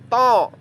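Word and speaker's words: ط: Kemudian huruf kedua, kita pilih tho. Tho tho tho. Huruf tho. Cara pelafalannya, ujung lidah menempel gusi atas.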